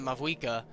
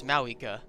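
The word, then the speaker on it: Mavuika: I've been pronouncing it Mavwika, but apparently it's Mawika. So, I guess we're calling her Mawika now.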